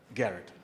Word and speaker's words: Gharat: Garrett Ghar 80 the H is silent by the way for some odd reason it is still Garrett okay thank you so